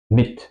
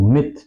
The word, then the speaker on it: mit: Mit es una palabra de una sola sílaba y es adentro, pues tenemos que pronunciar la vocal corta, como en testen.